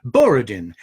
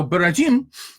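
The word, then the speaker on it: Borodin: it's by barajin that spell b-o-r-o-d-i-n and usually pronounced in america as boridin but the russians say now beratin is perhaps best known to americans because a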